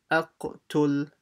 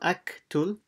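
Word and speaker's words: اقتل: Will join to the lam, tul, aqtul, and pronounce the qaf, aqtul. And the qaf should have like a bouncing sound to it, aqtul. So it's not aktul, aqtul.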